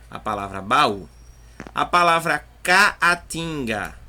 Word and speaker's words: caatinga: A palavra caatinga, ó, ca, a, tim, ga, caatinga. Então, ó, eu tenho dois A's, só que ficou um A em cada sílaba.